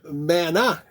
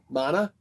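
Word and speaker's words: Maná: want to research on I think it's a Mana that's because the accent is on the second a and it's not a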